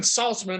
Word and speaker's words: Saltzman: a mr saltzman i hope i pronounced that right i've known you a long time but i'm never asking for the correct pronunciation of your last name am i close oh you got it right everybody says it right nobody ever spells it